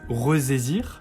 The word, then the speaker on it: ressaisir: Si on ajoute juste le préfixe re, on se retrouverait avec des cas où ce S serait entouré de 2 voyelles, donc on le prononcerait comme un Z.